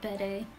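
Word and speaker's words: Bede: overconfidence maybe I love Betty he's such a jerk Betty is another case of phonemes where everyone in English pronounces his name bead-like come on guys he's not a bead oh you have to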